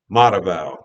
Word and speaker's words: Mataval: And that's how you pronounce his name, Mataval.